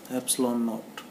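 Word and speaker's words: epsilon naught: Pronounce कैसे करेंगे इसको? एप्सिलॉन बोलेंगे कैसे? एप्सिलॉन, ठीक है, नॉट, एप्सिलॉन नॉट, ठीक है।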